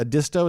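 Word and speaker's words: Edisto: disto Island South Carolina a disto is how you say that sounds like it's an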